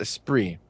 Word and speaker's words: Esprit: Somebody said Esprit.